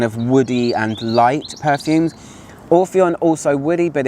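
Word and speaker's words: Orphéon: And this was on my Orpheon review by Diptyque, or Orpheon, if we're going to say it in French pronunciation.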